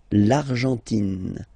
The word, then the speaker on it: Argentine: Okay, so you've got this nasal here, en, l'argent, and then tin. Don't pronounce the final it just gives you the pronunciation of the N, in. L'Argentine.